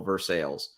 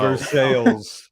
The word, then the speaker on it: Versailles: I lived in Kentucky, and there's a city spelled like Versailles that they call Versailles. No. Versailles. That's how the American model of capitalism even invades the language. It's Versailles. There you go.